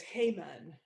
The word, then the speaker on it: Haman: king, clearly enough, with Hyman, Iman, or Liza has a thought on pronunciation there. I've just seen in the chat. I've often heard it said as Heyman, but Hyman works too, maybe. Haman.